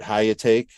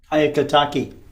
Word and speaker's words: Hyakutake: Comet Hyakutake was visible. Hyakutake.